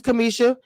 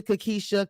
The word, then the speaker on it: Cameshia: because ton I was right my name is Kamisha and so my name get called Kamisha Kisha Kalisha everything but Kamisha so I'm very particular about the names okay